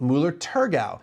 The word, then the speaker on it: Müller-Thurgau: They were an early proponent of Mueller Turgau and that is the proper pronunciation for that grape.